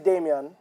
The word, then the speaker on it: Damion: Damion She Anthony. got it right. Damion. Well, you can say however. It's Damion.